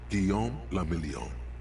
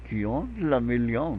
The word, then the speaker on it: Guillaume la Million: Guillaume la Million. Guillaume la Million. If it doesn't rhyme, you're not pronouncing it right.